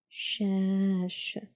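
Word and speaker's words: شاش: with the 3 dots, fatha above, so sha. This is a vertical line attached before, not after, so this is harf alif, letter alif, and it's pronounced as a. And in the end we have harf الشين again, no vowels because it's a noun. So shash, shash, shash.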